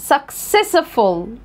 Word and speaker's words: successful: هنا السي جه بعدها سي هتبقى كي، السي التانية جه بعدها اي هتبقى اس، يبقى successful، successful.